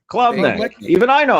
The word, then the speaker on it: Klubnik: The quarterback from Clemson, Cade Oh, Klubnik. Klubnik.